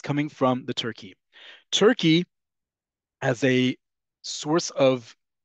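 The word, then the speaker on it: Türkiye: its name to turke it's the way you pronounce it in Turkish so it's not to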